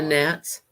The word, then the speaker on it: gnats: got those here too the gnats stuck the g is silent you don't see me